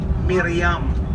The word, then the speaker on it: Miriam: Miriam.